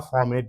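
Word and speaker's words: formate: Are silent है बेटा, इसलिए हमेशा फॉर्मेट बोलने का, मिथाइल फॉर्मेट।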